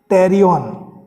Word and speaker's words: pterion: fossa, it is called pterion, P-T-E-R-I-O-N, where P is silent in adult skull, and this is the site of membranous gap in newborn skull, where it is called anterolateral fontanelle.